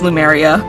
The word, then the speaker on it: Lumeria: The pronunciation of my character's name is Lumeria.